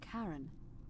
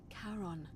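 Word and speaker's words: Charon: is a little off the name you heard wasn't Karen it was c h a r o n as in Caron the ferryman of the Dead uh oh karon who in exchange for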